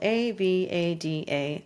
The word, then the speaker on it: Avada: website themes that I love to use it's it's spelled A V A D A Aveda theme or Avada depending how you want to